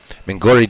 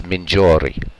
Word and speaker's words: Mingori: Because I've heard it pronounced both ways. Anglicized be Mingori. But Italian, it's Mingiori. So I'm going to go with Mingiori.